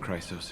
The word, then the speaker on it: Chrysos: Chrysos heir. Oh, these two with you are... Chrysos in Greek is pronounced chrysos, and it's the golden.